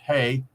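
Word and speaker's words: ה: Since vowels are much less important in this language, you see, the letter H, pronounced Hey, H-E-Y in Hebrew, means to look or behold.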